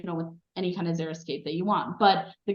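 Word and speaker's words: xeriscape: me pronounce this word I always pron it's zeroscape is that how you pronounce it zeroscape yeah yeah yeah but it's pretty much Desert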